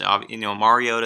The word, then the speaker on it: Mariota: How do you pronounce the last name? Prukop. Okay. We've endured, a Mariota debate here over the years. Mariota is the way to go, but I think